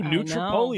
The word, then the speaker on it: New Tripoli: New Tripoli, that's exactly right.